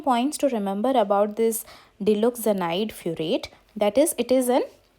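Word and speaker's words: diloxanide furoate: You will pronounce it like that. Dilozanide furoate.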